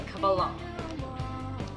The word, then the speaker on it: Kabbalah: It's the Kabbalah.